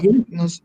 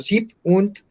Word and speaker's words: sieben: Acá sieben, no se dice 87, sino 87. Con el 7, 7 cuando se corta, ese sí se corta. No se dice 7, sino sieb und, 87 ja.